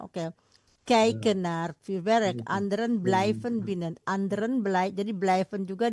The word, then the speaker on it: blijven: Sommige, Sommige mensen sommige mensen kijken naar het kijken, bukan kieken, kijken. kijken naar het voorwerp. Betul, oh, terus Anderen blijven binnen. Stop. I sama Y dibacanya I. Jadi kijken, blijven.